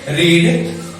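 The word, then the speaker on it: read: रीड जो है ना, रीड का प्रोनाउंसिएशन हम पढ़ते समय इसको क्या कर लेते हैं, मतलब प्रोनाउंसिएशन क्या होगा, थोड़ा सा चेंजेस होगा। कैसे, रीड, रेड और रेड, ठीक है।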